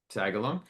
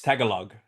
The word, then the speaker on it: Tagalog: what the word for penis was in uh Tagalong. Uh that did I say it right? It's it's tagalog.